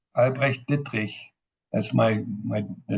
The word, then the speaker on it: Albrecht Dittrich: and interestingly enough, I'm going to now pronounce my German name, Albrecht Dittrich.